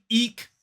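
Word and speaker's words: eke: and it is to eek something out so the pronunciation of that first word is eek to eek something out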